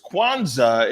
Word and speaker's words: Kwanzaa: that before we get everything going though it's kwanzaa and today that's how you say it over